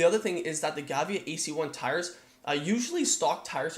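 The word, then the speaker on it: Gavia: actually come on these they're the giant given they're pronounced the giant Gavea course ac-12 bus tires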